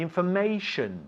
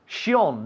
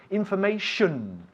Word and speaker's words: information: All words which end in T-I-O-N is shun, shun.